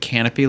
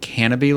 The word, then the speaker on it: Canobie: funny because you keep calling it canopy lake but it's Canobie Lake it's a beam on a P yes you're calling it like the canopy in the trees so it's funny to